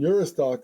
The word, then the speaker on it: Juristac: And Juristock is spelled Juristac.